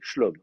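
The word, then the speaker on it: שְׁלוֹם: là dans devant Azrikam, vous allez le vocaliser schlom. Donc vous allez vocaliser l'lom. Donc en fait les deux se prononcent la même manière.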